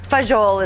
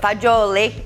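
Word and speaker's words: fagioli: so we are ready to enjoy our pasta fagiole or fajol is what a lot of people call it but fajyo lake is the product correct pronunciation in italian and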